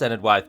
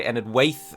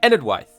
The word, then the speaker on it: Enedwaith: of ended wife and know that it is pronounced ended wife by the way lots of people say ended weaith and that is unfortunately incorrect and I used